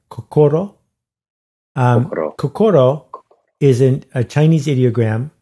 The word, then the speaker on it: kokoro: I called some Japanese cultural organizations, and they said kokoro.